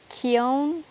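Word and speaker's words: Keown: It's called Keone Waterfalls or Cowan Falls. I think the locals call it Cowan Falls. So I hear a lot of people pronounce it Keon.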